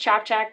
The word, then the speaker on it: Ciapciak: see everything um welcome my last name is pronounced chop check we've said it a